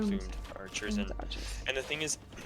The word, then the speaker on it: plumed: How do you call it? Plumed. Yeah, I say that's how I say them. Plumed archers.